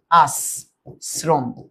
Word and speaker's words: আশ্রম: কেন দন্তাস হইছে? কারণ আমরা জানি এইযে তালব্য সের সাথে রফলা মানেই দন্তাস হওয়া। আর দন্তাস এখানে দীপ্ত হবে। র ফলার কারণে। র ফলার কারণে কি হবে? সে দীপ্ত হবে। দীপ্ত মানে দুইটা দন্তাস।